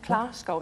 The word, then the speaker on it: Klabskov: And from Denmark, we welcome Klabskov. Is that the correct pronunciation? No, certainly not. Glasgow. It's an Glasgow, almost Okay, like as in Glasgow. Yes. Glasgow, not bad.